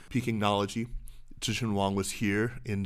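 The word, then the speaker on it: Pekingnology: n o l o g i g y pinology Tian Wong was here in Zurich I understand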